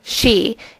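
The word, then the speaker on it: 四: 4 is considered unlucky because the pronunciation of 4, shi, is the same for the word death.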